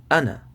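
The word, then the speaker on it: أنا: It's just that this word right here, whenever you see it in the Quran, the alif tends to be silent, right? So you'll be spelling like this: hamza zabar a, noon zabar na, ana.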